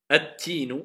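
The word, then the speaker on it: التين: Si la première lettre est shamsiya, on n'entend plus le L, car le L s'est transformé en prononciation en la lettre qui suit. C'est pour cela qu'elle est doublée shedda.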